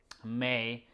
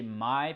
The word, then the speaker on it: Mai: So the premise of the story is about May. Really, it's depend on. I prefer to say Mai because I am Hmong, and that's how we pronounce MAI is Mai. But in some other country is May.